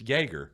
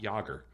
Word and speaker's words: Jaeger: Like, hey, that's not how you say that. It's Jaeger, not Yager.